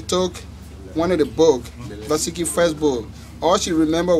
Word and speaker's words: Nvasekie: You know, Nvasekie needs to start with N. If somebody don't tell you Nvasekie, you'll find it real hard to pronounce it.